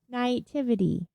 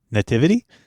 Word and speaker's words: naivety: No. Naivety. Nativity? No, not like Christmas. Not baby Jesus.